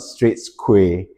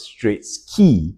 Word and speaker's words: Straits Quay: It's actually not straight squay. It's actually pronounced as straight ski, right? Q U A Y is pronounced as key.